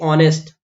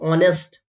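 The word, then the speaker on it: honest: आ जाएगा फिर देखिए ऑनेस्ट यहां पर एच जो है इसको बोला नहीं जाता है ये साइलेंट होता है तो आप देखो ऑनेस्ट ऑनेस्ट आ में औ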